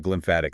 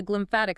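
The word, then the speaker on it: glymphatic: The glimpmphatic system. Exactly. The glimpmphatic system, which is spelled G L Y M P H A T I C for anyone looking it up.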